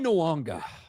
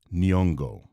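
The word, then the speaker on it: Nyong'o: Her name is Nyongo, not Nuanga. I don't know where Ryan is seeing the letter W in her name.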